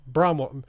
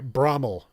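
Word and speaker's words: Bramwell: Bromwell. Sorry, Brommel. I used to call it Bromwell, but somebody who's local to the area tells me that the pronunciation is actually Brommel, which is a town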